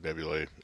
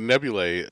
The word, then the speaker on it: Nebulae: would say about the Nebulae? I have to say it right, because I want to just say Nebula, because that AE combination thing just... Yeah. Anyway, so the Nebulae, one of the things